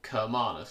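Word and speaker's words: Cermalus: They eventually landed at a place called Sermanus, or Kermanus. It's spelt with a C, but I think Romans used a harsh C sound.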